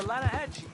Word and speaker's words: Lanahatchee: The Lanahatchee. It runs right near here. Yeah, but it's pronounced Lanahatchee. Why is everything in English said differently than it's written?